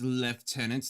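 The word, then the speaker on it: lieutenant: It is left tenant. That seems like a weird way to pronounce it, but okay.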